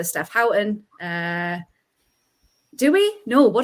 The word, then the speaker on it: Houghton: that we say Steph Howton uh do we no what do we say we say Steph Horton and everyone else says